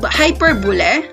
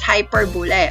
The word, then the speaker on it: hyperbole: the simile metaphor hyper hyper bullet all right but the other the other people they read this hyperbole right but the fact is we are the proper pronunciations of this is hyperbole okay next is irony